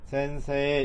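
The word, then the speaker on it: せんせい: 그래서 여기는 센세이라고 써있지만 실제로 이제 이는 이가 그 에단 담에 왔으니까 이 애를 길게 늘려가지고 장음으로 그러니까 이 애를 두 박자로 발음을 해준다 이런 얘기죠. 그러니까 얘는 센세에 이렇게 이가 마치 애처럼 센세에 데스 이렇게 읽으시면 되겠어요.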